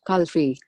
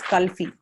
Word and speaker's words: kulfi: you see it says the word Kulfi as Kalfi. So now you want to actually change the pronunciation because that's not how it should be pronounced. So I can then say speak as and give an option to say K-U-L, but that is pronounced as skull. So another option is to say C-O-O-L and space F-E-E. So you give a phonetic spelling